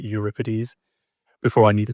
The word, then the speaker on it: Euripides: And the guy on the right, Euripides. Before I knew the correct pronunciation, I thought his name was pronounced Euripides.